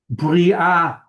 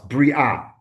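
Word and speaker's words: בריאה: Bri'ah. Bri'ah. I thought I heard something else. Bri'ah.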